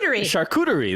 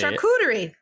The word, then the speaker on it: charcuterie: i feel like you could google it also charcuterie that's how i say charcuterie okay you guys are all saying you're wrong